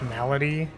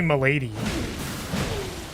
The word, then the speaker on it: Milady: I think that Milady is pronounced Malady. No, it's definitely Milady. Like Tip's hat Milady.